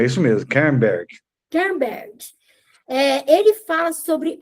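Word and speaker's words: Kernberg: É isso mesmo, Kerberg.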